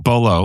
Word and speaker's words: Bolo: Blood Sport and Bolo Young like the thing with Boo Young is that pronouncing Bolo like a bolo tie.